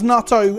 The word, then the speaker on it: natto: probiotic bacteria found in nato or natto again i probably should have looked at pronunciations yes that's natto as in fermented soybeans